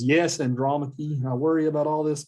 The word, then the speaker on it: Andromache: So you pronounce his wife's name Andromache. That's how you pronounce her name.